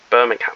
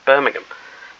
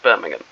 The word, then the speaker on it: Birmingham: Why did I say Birmingham? Why did I pronounce it American? Birmingham. the CSS Birmingham.